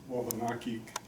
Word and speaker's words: Wabanaki: Coy Band of Abenaki Nation here in Vermont, or Abenaki if you say the French pronunciation, or Wabanaki as we say it in our language.